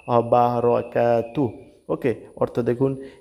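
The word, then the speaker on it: وبركاته: ওয়া বারাকাতু না, কিন্তু এখানে রয় আকার ধরা যাবে না, অবারাকাতু।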